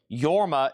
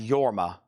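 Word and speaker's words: Jorma: This is Yorma, which is spelled with a J. Yorma is spelled J O R M A. It's pronounced Yorma. Yorma.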